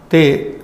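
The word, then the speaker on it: ते: Te is close to English they, with a little change in the pronunciation, position of the word.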